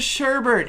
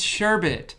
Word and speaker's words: sherbet: She calls it sherbet. It's sherbet. There's no R. Everyone calls it sherbet. There is no R. Sherbet sounds right, but it's sherbet.